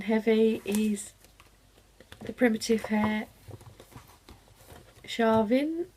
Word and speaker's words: Samhain: And then the next one, the very digital pattern heavy, is the Primitive Hare Shavin, or it's spelled samhain, and this is just